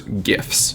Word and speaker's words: GIFs: I say biopic and I call small moving pictures gifs it's a hard G and I I'm going